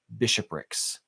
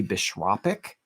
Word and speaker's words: bishopric: Yeah, it was all of these different bishoprics, which I literally Googled the pronunciation of before the stream, because I thought